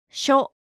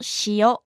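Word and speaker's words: しょ: n sho Remember, it's not shiyo. It's sho.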